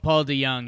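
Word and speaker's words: DeJong: Yeah, Paul DeYoung.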